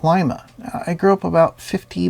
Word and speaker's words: Lima: someone in Lima Ohio and yes it is pronounced Lima I grew up about 50 miles south of